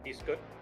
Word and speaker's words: Piscot: Uh he has a character named Piscot as is pronounced correctly in the French accent I learned.